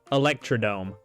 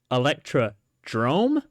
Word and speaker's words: Electrodrome: the years week nine electrome this week was wait what electr Drome not electrome you mean to tell me that I've been saying it wrong this whole time week nine electrodrome I